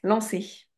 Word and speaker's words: lancer: C'est quoi qu'il a dans le Ah ah oui ouais lancer lancer ça c'est facile lancer ouais parce que c'est pas un je ne prononce pas le R ouais euh entendre ouais